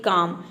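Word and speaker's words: calm: letter silent रहता है जैसे कि काम यहां पर देखिए इसको हम प्रोनाउंस करते हैं काम सी ए एम एल को साइलेंट रखते हैं काम मतलब होता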